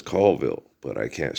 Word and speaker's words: Colville: But the proper pronunciation is Colville.